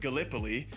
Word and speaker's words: Gallipoli: right because being from Iowa, I said uh Galipoli and it's it is pronounced Galipol. Long story short, Gallipoli is covering the Ottoman front, the Eastern Front throughout all of this.